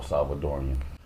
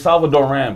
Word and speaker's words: Salvadoran: It is not El Salvadorian. Oh, I'm an American dumbass. So, yeah. No, you're not. Say I'mma pronounce things like like a white man. Our Salvadorians do this. Yeah. I say please correct me, bro. Look, for real, bro. It's Salvadoran.